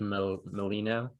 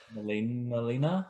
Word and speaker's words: Molina: jamie foxx and um alfred molino is that how you say his name molina yeah yeah we know that they're